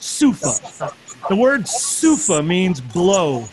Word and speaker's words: souffle: Soufa, if you were to see soufa spelled, it looks like souffle, but it's pronounced soufa.